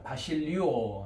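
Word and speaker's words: βασιλεύω: 그 다음에 이제 왕이라고 하는 명사는 동사 936번 뭐라고 발음합니까? 예, 그렇습니다. 바실리오 합니다.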